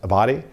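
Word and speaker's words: Abbate: One of the deputies for former Director Wray, Paul, I believe his name is pronounced Abadi, he was the one that shared with us that, he has these anti-immigrant and anti-Semitic views.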